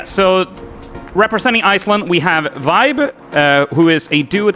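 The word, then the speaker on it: VÆB: Uh Vibe is pronounced as Vibe as in well Vibe.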